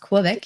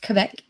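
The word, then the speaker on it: Québec: yes i am in quebec canada it's not pronounced quebec it's pronounced quebec um it was actually pronounced both ways but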